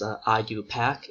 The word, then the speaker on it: IUPAC: So we pronounce this IUPAC.